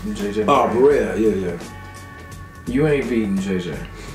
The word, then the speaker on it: Barea: I think I'm pronouncing the name wrong, but... What's the buddy from Dallas? I said that. Boricua. JJ Barea. JJ Barea. Oh, Barea.